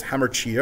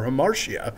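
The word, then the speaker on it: hamartia: this flaw is generally referred to as hammer TIA or her Marcia depending on how you choose to pronounce it that said within the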